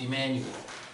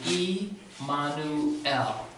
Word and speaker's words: Emmanuel: pronounce that name again as you've heard a pronounced Emmanuel but the way that's correctly pronounced in Hebrew is e Manu ow what does e mono tell me we see